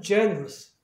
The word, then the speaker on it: generous: 그러면 앞에 모음이 있으면 액센트가 U로 간다는 얘기예요. 그러니까 자음이 있을 때는 바로 거기에 있는 모음이 액센트 되지만 여기로 가니까 단모음 또 그러니까 발음이 G가 되는 거예요. 여기 시와 사운드 Gen 빨리 하면 generous 이렇게 되는 거예요.